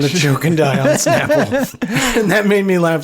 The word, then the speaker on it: Snapple: choke and die on Snapple. And that made me laugh so much harder. Pronounced Snapple, but yes.